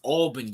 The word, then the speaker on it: Albany: Can you please pronounce it right? It's Albany, you dumb fuck.